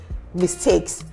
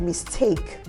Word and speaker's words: mistake: know um those um mistakes did you also get to hear that I said mistake and not mistake ah mistake and interestingly